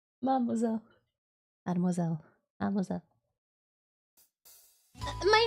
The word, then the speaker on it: mademoiselle: Right, Mademoiselle. It's a run-on word. I know you're used to having to pronounce the syllables separately, but please string them all together like you got marbles in your mouth, mademoiselle.